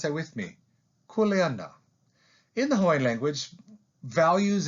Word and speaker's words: kuleana: hawaiian language is kuleana take a moment and pronounce that with me kuleana in the hawaiian language values and most words